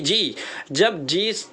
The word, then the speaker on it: judge: जी, जब डी के बाद जी आ जाता है, डी के बाद जी आ जाता है तो डी साइलेंट हो जाता है, डी पढ़ा नहीं जाता।